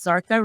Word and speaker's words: Zarqa: a lot of yes sartha rhymes with parka there you go all